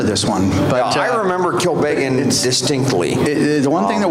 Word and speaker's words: Kilbeggan: How do you say that? Kilbeggan. Am I saying it right? Yeah. Yes, you are.